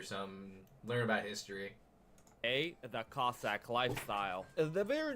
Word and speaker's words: Cossack: But we pronounce it Cossack now instead of Kazakh.